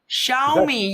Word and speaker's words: Xiaomi: you can see I'm talking how would you pronounce that name Ivan jeez uh yomi tell me it's called sh me Shia me xiaomi you get a xiaomi phone do you know